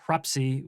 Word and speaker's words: Hrafnsey: kingdom north of Scotland called Hrafnsey, or Hrapsey, as Icelanders would pronounce it, which is insane.